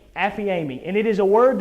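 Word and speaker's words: ἀφίημι: used throughout this chapter the first one is pronounced affy amy affiami and it is a word that means based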